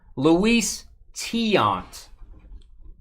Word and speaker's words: Luis Tiant: And make sure you say his name right because you could really screw up. Luis Tiant. Not the other way.